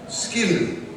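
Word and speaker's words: sgian-dubh: It's called ski-and-do. Skin-do. Say it. Skin-do. Skin-do. It's a Scottish word for sock knife.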